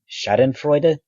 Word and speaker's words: Schadenfreude: Superiority theory typically gets tied up with the German word Schadenfreude, I think it's pronounced, uh which refers to the joy we get when we see others harmed.